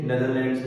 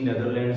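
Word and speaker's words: Netherlands: उसके बाद germs invade कर गए थे नेदरलैंड्स में। पर प्रोनाउंसिएशन उसकी नेदरलैंड्स होती है। ठीक है? नीदरलैंड्स, नीदरलैंड्स नहीं होती। नेदरलैंड्स ठीक है?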